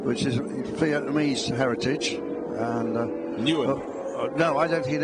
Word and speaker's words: Nguyen: Because NG is just new. Yeah, but it's done. It's sort of very nasal.